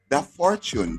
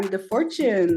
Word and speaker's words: Dafortune: And she's also known as Dafortune. Did I pronounce the name correctly there?